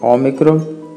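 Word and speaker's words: ο: A letra ômicron tem o som de O como em objetivo, ok? Tente lembrar da letra ômicron como um O com acento agudo.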